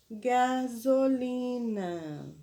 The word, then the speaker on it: gasolina: A sexta palavra de hoje foi a palavra gasolina. Ó, gasolina. Uma palavra com 4 sílabas. Ó, gasolina. Porém, no zó, ó, escreve-se com S e não com Z.